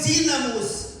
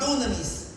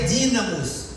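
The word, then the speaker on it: δύναμις: linguística apenas mas é dinamos o grego moderno hoje mudou a palavra din D não tem som de D tem som de z do grego moderno mas a pronúncia no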